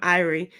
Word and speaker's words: Irie: She said her son's name, Irie, the same pronunciation as the Jamaican saying Irie, which means vibes are good and everything is well.